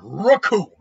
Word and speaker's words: Raccoon: Because the name's Raccoon, and it rhymes with doom.